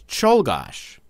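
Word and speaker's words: Czolgosz: had a name that was much harder to pronounce go here's the name take a moment to read that any guesses it's cholos sometimes I think the Polish language was designed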